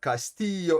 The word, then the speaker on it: Castillo: And here it explains you that the double L is you pronounce it an Y, and Castillo, it explains how to read Castillo and Caballeros.